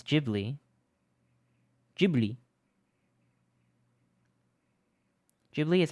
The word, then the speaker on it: Ghibli: Ghibli. Ghibli is how it's pronounced correctly.